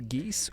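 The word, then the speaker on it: geis: They pronounced the geese or glam de sin.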